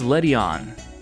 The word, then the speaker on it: Ledian: So, this is Ledian, not Ledyba. Ledian? Once again, a very slight difference in vowel pronunciation, but uh I've been saying it wrong this whole time.